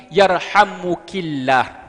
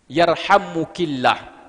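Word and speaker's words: يرحمكِ الله: Allah merahmati engkau dan dalam pengucapan juga harus sesuai ada yarham Jadi kalau perempuan yang bersin jangan yarhamukallah tapi yarhamuk ilah yarhamuk ilah tapi kalau laki-laki yang mesin yarhamukallah kalau di Indonesia kurang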